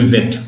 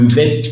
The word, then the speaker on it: Mvett: Donc, l'instrument là, ça s'appelle le Mvet. Ça s'écrit M-V-E-T-T.